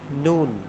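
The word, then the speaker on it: نَ: ফোঁটা থাকবে একটি আল এর উপরে একটি ফোঁটা নুন আমরা একটু বারণ করে দেখি নুন জবর না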